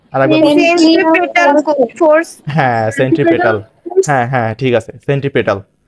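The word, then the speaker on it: centripetal: না আরেকবার ফোর্স হ্যাঁ সেন্ট্রিপেটাল হ্যাঁ হ্যাঁ ঠিক আছে সেন্ট্রিপেটাল এইটা আমি এটা সেন্ট্রি ফিউগাল ফিউগাল উচ্চারণ করতেছিলাম কিন্তু এইটা হচ্ছে ফিউগাল আর এটা হচ্ছে সেন্ট্রি পিটাল ওকে সেন্ট্রিপিটাল ওকে পি উচ্চারণ হবে পি পি পি পি ওকে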